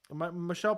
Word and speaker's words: Michel: Crazy that guy that beat Michael Pereira lost to Elkins. Yep. Michel Pereira, I said pronounce his name wrong, but he gassed out.